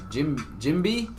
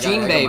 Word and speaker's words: Jinbei: It's pronounced Jinbei? That's what I said. I said Jinbei. Jimby? Jimby? Jimby? Like Jim Bean?